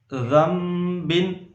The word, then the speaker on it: ذنب: استغفر اللہ ربی من کلی۔ اب اگلا لفظ ہجے سے پڑھیں گے۔ ذنب، ذال نون زبر ذن، با دو زیر بن،